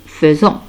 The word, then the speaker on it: faisons: Et s'écrit F-A-I. Mais se prononce nous faisons.